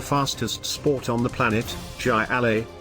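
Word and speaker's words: jai alai: sport on the planet jai alley pronounced hi li is that odd-looking competition found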